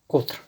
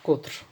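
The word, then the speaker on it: قُطْر: and then you have qutr. So qatr, qitr, qutr. So these are three different words. They are pronounced similarly. The only vowels change.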